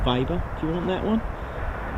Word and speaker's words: Weber: vber no it it the brand is uh it's called Weber vber that's a pronounce vber well I'll take you